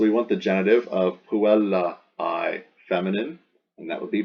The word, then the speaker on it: puellae: more like the girl's, that A-E pronounced I, like the apostrophe S, the girl's letter.